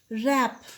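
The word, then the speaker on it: wrap: Rap, W is a silent letter.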